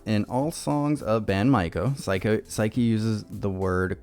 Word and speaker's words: Maiko: Maiko is pronounced Maiko, means a person in the apprenticeship stage of Geiko.